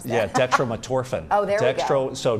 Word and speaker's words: dextromethorphan: How do you pronounce that? Yeah, dextromethorphan.